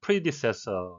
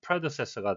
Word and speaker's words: predecessor: 영국식 발음은 predecessor, 미국식 발음은 predecessor가 되겠는데요.